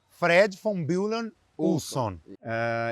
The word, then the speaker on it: Fred von Bülow Ulson: Fred von Bullen Ulson.